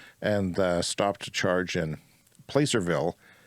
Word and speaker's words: Placerville: stopped to charge in Placerville, or Placerville or Placerville. It seems like I've heard it pronounced two ways.